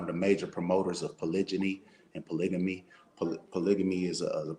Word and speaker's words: polygyny: So when you say polygyny, sometimes people say, "Oh, you're saying it wrong," or "you're misspelling it."